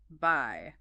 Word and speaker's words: buy: Buy. This word is a homophone. That means it sounds exactly like bye, as in goodbye, or see you later, bye.